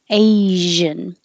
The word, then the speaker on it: Asian: Asian. The important part is the zh.